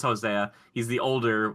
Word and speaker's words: Hosea: they were calling him Jose because I feel like a lot of people don't pronounce the A on that, but it is Hosea.